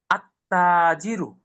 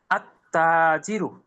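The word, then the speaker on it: التاجر: যদি শুরুর শব্দটা সূর্যবর্ণ হয়, আলিফ লাম যুক্ত করি, তাহলে লামের উচ্চারণটা থাকবে না, প্রথম বর্ণের তাসদীদ দিয়ে মিলিয়ে পড়তে হবে। আত্তাজিরু, আত্তাজিরু, লামের উচ্চারণটা থাকবে না।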